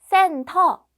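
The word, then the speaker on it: 센터: the group number four sen tall this is the Korean pronunciation of Center if you're a centaur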